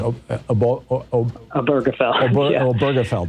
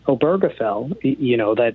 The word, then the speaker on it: Obergefell: Texas and I always mispronounce this. Obergefell.